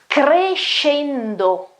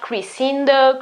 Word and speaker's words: crescendo: It's crescendo, crescendo. It's not crescendo, crescendo, crescendo. It's crescendo. S, C, and E, S-C-E in Italian, is pronounced she, she, she. Okay, it's like an SH in English.